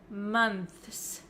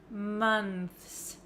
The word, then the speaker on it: months: a tricky one so a lot of students have difficulty with the th sound th th month month however this one also has an S at the end that's really difficult to pronounce right we can pronounce this word as months months if you if you want to say the th sound clearly plus the S and that is really difficult for some English learners but I will give